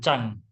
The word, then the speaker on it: Zang: atau disebut juga organ Chang tulisannya Zang Tapi bacanya Chang kemudian organ yang itu adalah